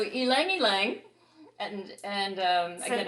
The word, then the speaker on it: ylang ylang: on the pronunciation because i always thought this was lang lang right but it's laughs see i can't even say it right now so ylang ylang and and um i